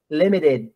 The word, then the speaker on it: limited: know everything you say limited Limited no from the top limited leader litter matter that t is D not t can you go limited